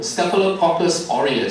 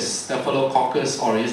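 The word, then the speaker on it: Staphylococcus aureus: cus orus okay uh it's a bit of a mouthful St caucus orus St caucus orus that's how you pronounce it I will come to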